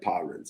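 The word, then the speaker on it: pawrents: Okay, paw rents. I should know better. Not pow. Paw rents.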